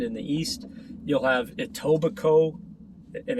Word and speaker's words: Etobicoke: You'll have Etobicoke, and it's spelled Etobicoke, in the west.